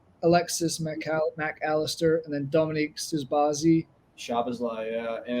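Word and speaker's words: Szoboszlai: he's a Winger Alexis McAllister and then Dominique suzbazi shabazlay yeah and it's like oh man I was just not the right pronunciation but that's okay a lot of Z's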